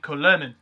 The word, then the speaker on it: Kulemin: Now, Nikolai Kulemin, or as it was spelt on his KHL jersey, Kulyomin, or as it's pronounced in actual reality, Kulemin.